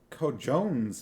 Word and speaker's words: cojones: lips moved as she read on what does co-jones mean c-o-j-o-n-e-s yes I know it's pronounced cojones but magrat doesn't know that they